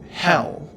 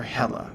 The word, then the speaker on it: Hel: The only interesting part here is that Hel, or Hela, depending on which pronunciation you choose, has a tail, and she doesn't normally.